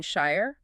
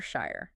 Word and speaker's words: shire: Often, people closer to London or those speaking receive pronunciation tend to use the shire sound, rhyming with fire. People in the regions themselves often prefer the shire sound, rhyming with fear.